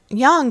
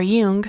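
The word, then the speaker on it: Jung: our unconscious right what Young would have called Carl Young would have called um or Yung I've heard it pronounced different ways the collective unconscious right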